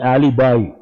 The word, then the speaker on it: alibi: write this word Ali is not correct correct pronunciation Alibi Alibi means false evidence you all must have